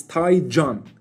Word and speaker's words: Taycan: Actually, the correct way of pronouncing the Kan part of the name is actually Can, not Taycan. It's Taycan in Turkish.